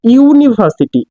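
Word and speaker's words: university: বাট এইটার যে pronunciation এখানে কিন্তু আসতেছে ইউনিভার্সিটি, ইউ আসতেছে। আর আমি তো আগেই বলেছি, যদি ইউ অথবা ওয়া থাকে সেক্ষেত্রে আমরা আর্টিকেল এ ইউজ করি।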